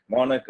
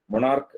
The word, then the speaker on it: monarch: നമുക്കതിനെ കോമൺ ആയിട്ട് പറയാവുന്ന ഒരു വാക്കാണ് MONARCH, മോണക് എന്നാണ് ഈ വാക്കിന്റെ ഉച്ചാരണം. മൊണാർക്ക് എന്നല്ല, മോണക് ആൻഡ് ദിസ് ഇസ് മോണക്കി. ഓക്കെ, അതിന്റെ ഉച്ചാരണം അങ്ങനെയാണ്.